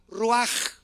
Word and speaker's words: ruach: apúntalo en el hebreo con ch se pronuncia la ch en el hebreo como j ruaj y la palabra neuma